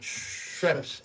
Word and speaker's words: Schweppes: Y la gente empezó a pronunciar bien, Schweppes. Y nos decían, Schweppes.